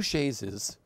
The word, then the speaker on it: chaise: So I believe there were two chaises on Broadway, right?